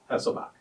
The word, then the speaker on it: Heselbach: we are on board the battleship new jersey and our interview guest is hesselbach from baltimore maryland did i pronounce that correct hasselbach yes sir mr hesselbach served on